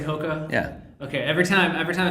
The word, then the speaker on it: HOKA: Do I say it right when I say HOKA?